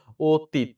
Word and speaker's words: অতীত: খেয়াল করেন ধরতে পারছেন আচ্ছা অতীত অ এর পরে ইউরিক আছে তাহলে এটা ও হবে দীর্ঘ ইকার কি হবে রসইকার হবে ততে ধাক্কা লাগছে হসন্ত অতীত অতীত এটা হবে এনসার ভাই ঠিক আছে সশান